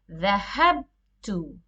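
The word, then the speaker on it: ذَهَبْتُ: But the moment you attach to the mir, the ba changes the fatha to sukoon. Dhahabtu. Now the verb you pronounce as dhahabtu.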